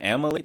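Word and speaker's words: Amalie: You said Amily. That's how you pronounce it. It's called Amily.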